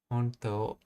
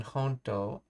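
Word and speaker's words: ほんと: While the standard spelling honto the spelling ha in honto is common in informal context manga dialogue to reflect natural speech patterns where the final U is dropped or heavily reduced.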